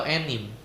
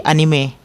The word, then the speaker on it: anime: Ini dibacanya anime atau enim? Ee enim saya ya. Anime bisa? Anime bisa, enim bisa. Anime bisa, enim bisa. Ya, biasanya yang paling benar yang mana? Enim, anime. Kalau dari pelafalan Jepang sih anime.